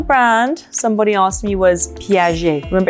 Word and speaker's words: Piaget: And the reason is because the G is like a J, it's nice and soft, J. And at the end of the word, there's a T, but you don't pronounce it. So it's Piaget, nice and soft.